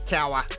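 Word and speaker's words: Cowher: me at the time and that's how you pronounce coach cowa the steelers locked him up with the three-year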